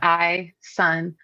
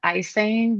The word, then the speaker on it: Ison: in Kentucky would pronounce My name is spelled is Oo N, like I son. But a lot of people would pronounce it like icing, like icing on a cake, not like icing.